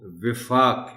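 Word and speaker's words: وِفاق: Note کر لیں کہ اس لفظ کا تلفظ جو ہے وہ وفاق ہے، واو کے نیچے زیر ہے۔ عام طور پر اسے واو پر زبر کے ساتھ پڑھا جاتا ہے جو درست نہیں ہے۔ اب یہ وفاق جو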